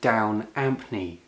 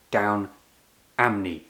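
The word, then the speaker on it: Down Ampney: The tune is called Down Ampy or as he pronounced it down Amnney without the P sound.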